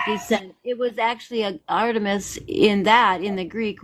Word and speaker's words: Artemis: dragons and your name how do you spell that exactly or is it arist a r a r t e m i s Artemis not emist I it it sound